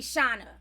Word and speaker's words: Shawna: cuz you know what it took me so much not to say Cena but then I was like your name is spelt like my ex-husband's name that SCA n so I was like it gotta be Shana yes for the correct pronunciation